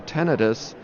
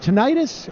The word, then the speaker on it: tinnitus: that just doesn't stop is it tinnitus or tinnitus you know and that's a good question because I think that the actual pronunciation is tentative but almost universally people pronounce it as tinnitus right so we use